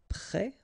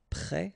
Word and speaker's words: près: Then you get près, like that, so final S, but then of course you don't pronounce it, and here, près, so the adjective, okay.